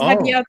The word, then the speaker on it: Hadiatu: Hadiatu. So Hadiatu? I'm very. Oh, okay, good. You pronounce that better than Hadi, so you can call me that if you want.